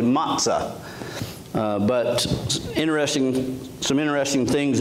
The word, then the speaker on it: matzah: ordered it and it it's not matzo's but it's pronounced usually matzah but interesting some interesting